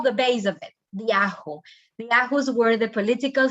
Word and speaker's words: Ahu: Ahu is the pronunciation.